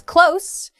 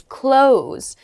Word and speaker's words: close: Next is close, meaning to be near, and the other pronunciation is close, meaning to shut, or it can also mean to end.